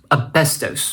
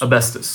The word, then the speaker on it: asbestos: It's pronounced asbestos. Asbestos. Asbestos. Asbestos. Americans.